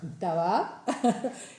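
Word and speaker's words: תאווה: sintieron ese deseo que en hebreo es tab. se pronuncia así, tab, eh, que significa un apetito desbordado, un capricho carnal.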